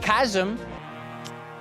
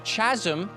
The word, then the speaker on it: chasm: can still surprise us the correct pronunciation of KM a lot of people kept calling this a Chasm not really sure where that came from and that despite